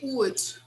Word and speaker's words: would: make mistakes a lot it's simply wood wood okay guys don't try to pronounce the letter l this letter l here is not pronounced to say what would